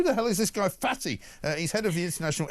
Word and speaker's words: Fatih: It turned out Fatih is a Turkish economist called Fatih Birol, spelled F-A-T-I-H, which is fine, but unfortunately for him, pronounced Fatih.